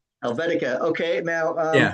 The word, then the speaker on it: Slik Helvetika: How do you pronounce the name of the band? Slick Helvetica. Helvetica.